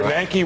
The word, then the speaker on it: Bernanke: Yes, It's Stephen Bernanke rhymes with Yankee.